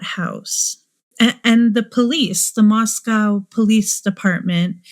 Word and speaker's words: Moscow: And the police, the Moscow Police Department, I know they pronounce it Moscow, and it feels better to pronounce it Moscow, but given that it's spelled like Moscow, I don't know, Russia, I'm going to say Moscow most likely, but I know it's pronounced Moscow, just putting that out there.